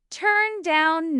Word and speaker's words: turn down: The stress is on down in both meanings. Turn down 9.